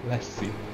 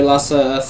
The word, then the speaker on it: Lasse: hadn't my glasses on, I would have read you, pronounced you Lassie, but luckily I have my glasses on right now and now I see correctly.